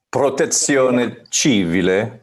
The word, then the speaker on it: Protezione Civile: But you can pronounce this better than me, Seb. Protezione Civile, is that correct? Protezione Civile.